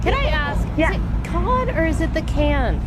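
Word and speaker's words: Cannes: Yeah, it's can. It's can. So if you say con are you being pretentious? Uh, you're just being American.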